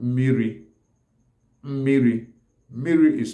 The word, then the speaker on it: mmiri: land, like Anambra people, will pronounce mmiri as mili. Then mili is spelled as me-me-iri, me-me-ili. Then some other parts of Abia State, like Ohofia, Breba, Arochukwu, some will call it mini. Mini. Mini is spelled as me, e, ni, mini. Then mini, miri, miri, which is the accepted, the generally accepted Igbo word for water, miri, and mili,